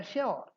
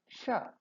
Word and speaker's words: sure: Should it rhyme with pure and cure or should it rhyme with poor? Let us examine both the styles of pronouncing this word. The shortest answer is that both are correct. If you want a very brief answer, we should say both are correct. You can say sure or you can say sure. So sure rhyming with pure and sure rhyming with po are correct.